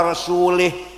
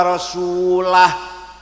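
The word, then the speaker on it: رسولُه: Wa annallaha bari'um minal musyrikin wa rasulih. Allah tidak melindungi orang musyrik dan tidak melindungi Rasulullah. Salah. Bacanya harus wa annallaha bari'um minal musyrikin wa rasulah. Wa rasulah, jangan wa rasulih.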